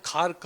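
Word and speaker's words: Kharg: काय साध्य करू खार्ग किंवा त्याच उच्चारण खार्क होत के एच ए आर के पण करतात हे खार्क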